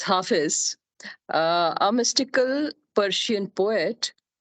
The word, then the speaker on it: Hafiz: I recently realized that the way to pronounce the name is Hafiz and it's actually isn't